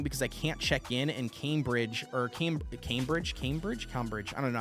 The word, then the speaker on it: Cambridge: So it's not Cambridge, it's Cambridge, right? Anyways, I just know that, like, I'm going to have all day long on the 13th. So anything you recommend, I'm all game. Not it's pronounced Cam. Okay, it is Cam.